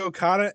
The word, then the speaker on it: Okada: You always got to go up Kazuchika on that Okada. second. You always got to go up on that second syllable.